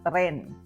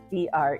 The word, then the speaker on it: tren: to sound Filipino and you want to sound local so you say TR so we also spell it as t r e n TR now you have to